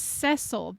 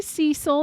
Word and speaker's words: Cecil: and by the way it is cesil that is how they pronounce it and I have a cousin named CES spelled the exact same way and so many people would always be like Oh Hey Cecil and he'd be like no my name is cesil nobody in in the like nobody out there pronounces my name Cil that is wrong Yang I didn't know